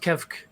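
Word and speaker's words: Kevk: is kev or keck it's pronounced kev but some people have problems with it k-e-v-k it's really hard to say yeah okay i'm thinking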